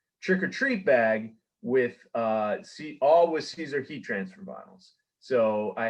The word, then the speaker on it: Siser: It is Siser, like the salad.